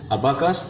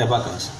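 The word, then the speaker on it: abacus: देखिए इसके प्रोनाउंसिएशन दो हैं, अबाकस और एबाकस, ठीक है।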